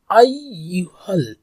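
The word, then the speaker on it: أَيُّهَا: Yeah I, ইয়া, ইয়া, মানে তিনবার টানবো, আইয়ুহাল্লাজি, ayyuhal lazina, lazina, ya ayyuhal, মানে যে ইয়া যে টানটো এটা তিন আলিফ, দেন হচ্ছে ayyuhal, আলিফ, এর কি ইয়া, আই ডাবল উচ্চারণ, যেহেতু তাশদীদ এখানে আছে, সো ayyuhal, এখানেও তাশদীদ আছে, ayyuhal lazina.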